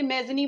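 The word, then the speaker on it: Mazzini: गप्से मैजनी, actually अगर आप इसको गप्से मैजनी बोलेंगे, माजनी बोलेंगे तो ये इटालियन है, और आप इसको जिप्सी मैजनी बोलेंगे ना, आप इसको जिप्सी मैजनी बोलेंगे तो फिर क्या है ये बेटा, फिर ये एक इंग्लिश प्रोनाउंसिएशन है।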